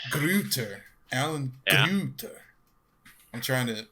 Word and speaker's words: Gruetter: is he said it in, how do you pronounce it again? Oh man, Gruetter. Gruetter.